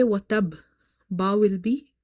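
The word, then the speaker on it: وَتَبَّ: because if you say watab, ba will be pronounced once. You have to emphasize, you have to stress upon it, you have to say watab. So here qalqala will be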